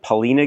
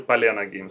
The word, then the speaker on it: Palena: pronounce it Pina actually palana games palana palana games what palana pal palana no you're speak palana it's like palana it's like Val but p is like Anda oh okay so yeah